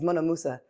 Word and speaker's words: Mouna Musa: for me, it's simple, my name's Mouna Musa. So it just goes together. Yeah. So I'm like, that sounds pretty dope. So like I should probably just use that, you know? 4 syllables. Yeah, like some people got like 7 and 8, but can't pronounce 4.